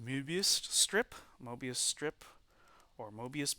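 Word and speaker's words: Möbius: back edge of this so this is the mobius strip there's actually um lots on the o so this should be actually uh pronounced mubist strip mobius strip or mobius band um and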